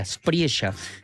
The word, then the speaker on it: Espriella: ultraderechista Abelardo de la Espriella. Viste que los colombianos le dicen, pronuncian la L como nosotros, ¿no? La L, no dicen Espriella, como uno podría pensar, claro.